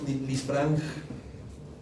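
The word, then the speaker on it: Lisfranc: No, Lisfrang y chopar.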